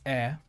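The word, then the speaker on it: へ: a particle there's knee um hair but it's pronounced as air which is towards something it's a bit different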